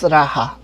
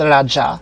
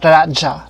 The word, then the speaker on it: Raja: Also, I just wanted to add that they pronounce Raja as Raha. Although Vic Soto redeemed it and he said Raja. So that's correct because Raha is a Spanish pronunciation.